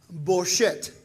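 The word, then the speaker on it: בושת: No con U, pero con O. Boshet, que es vergüenza, las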